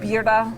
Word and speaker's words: birria: Birria Tacos yet?